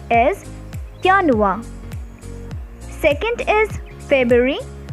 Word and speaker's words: Januar: is january which in german is called is yanua second is february called is febual march is different in pronunciation it is called as mayors then april